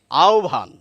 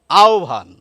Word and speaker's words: আহ্বান: সমস্যায় ফলে যেমন দেখুন আমরা যদি বলি আহ্বান এখানেও কিন্তু ব রয়েছে কিন্তু উচ্চারণে কিন্তু আমাদের বলতে হবে আহ্বান আহ্বান অর্থাৎ এখানে আবার ব এর উচ্চারণটা আমাদের কাছে অদ্ভুত লাগছে এখানে ব এর উচ্চারণও করছি না আবার অদ্ভুত অন্য কিছু করছি যাই হোক এই ব